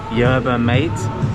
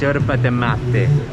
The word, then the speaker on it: yerba mate: I mean, in English we would butcher it and say yerba mate, but in Argentinian it's yerba de mate.